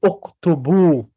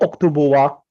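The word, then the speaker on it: اكتبوا: Because we read it uktubu, not uktubuwa, uktubu.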